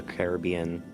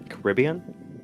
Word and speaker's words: Caribbean: They think of Pirates of the Caribbean. Caribbean. Caribbean. Both pronunciations are correct. I only ever hear Caribbean when talking about the real place and only ever hear Caribbean when talking about the movies.